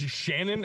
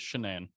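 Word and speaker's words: Shanann: in read it as Shannon and I thought the my narrator had a speech impediment no it is shenan so early specific speech impediment that they only pronounce Shannon wrong like it upset me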